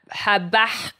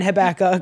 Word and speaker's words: Habakkuk: Habakkuk.